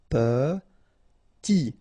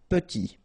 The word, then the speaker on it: petit: Okay, remember to pronounce this E like a E. Petit. Final T not pronounced. Petit.